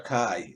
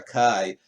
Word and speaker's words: Kai: think is it Sir Kai, it's pronounced Kai, not K, but Sir Kai, to whip Modred, and